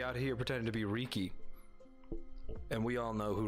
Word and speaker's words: Riki: Well, it's Riki, duh. Not to be confused with Riku from Kingdom Hearts. Though many people do confuse them because they look so similar. It's pronounced Ricky, isn't it?